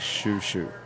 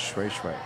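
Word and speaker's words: Shweshwe: like shoo shoo. Yep. It's pronounced Shui Shui.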